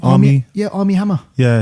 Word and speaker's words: Armie Hammer: army hammer yes say his name army yeah armie hammer yeah it's got it's got a few creak